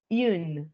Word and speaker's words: une: ¿Cómo es que se pronuncia en femenino? Une.